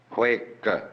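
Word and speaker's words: 慧可: Bodhidharma had a pupil by the name of Eka, Huike in Chinese. Eka is Japanese pronunciation, like Zen is the Japanese pronunciation of the Chinese Chun.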